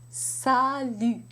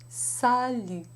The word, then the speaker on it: salut: You want to keep that tongue forward. And one way to do that is to push the tip of the tongue very hard against the lower teeth.